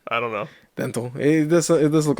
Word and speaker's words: Dntel: In an interview, Ben Gibbard pronounced it Dentel in front of the guy, so I'm assuming he's not gonna. Hey, that's not my name. If I was him, I'd be like, "It's Dental."